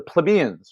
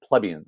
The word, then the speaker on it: plebeians: One known as the patricians, and the other known as the plebeians, or some people pronounce it plebeians.